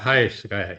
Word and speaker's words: HYSKY: HYSKY, yeah, there you go. Correct my pronunciation.